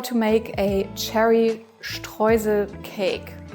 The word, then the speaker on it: Streusel: Let me show you how to make a cherry streusel cake. This is how we pronounce it in German. It's Streusel, not Streusel or whatsoever.